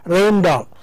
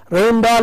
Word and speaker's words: Rijndael: So the actual word is R-A-J-J-N-D-A-E-L and pronounced Rein Dahl. Rein Dahl is the new advanced encryption standard algorithm, and